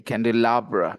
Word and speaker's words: candelabra: candelabra candelabra okay okay candelabra the stress is on this one i' never heard this